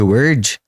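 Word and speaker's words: wyrd: Até porque a primeira cultura a falar de teia quântica, a falar de emaranhado quântico, utilizando o conceito de word de teia, né, que se escreve W y RD, foi a mitologia nórdica.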